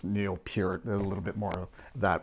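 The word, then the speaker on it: Neil Peart: And my apologies in terms of the whole pronunciation and that some I think growing up I always uh w heard it was Neil Per but then now knowing it's Neil Pur a little bit more that my apologies if I've mispronounced his name.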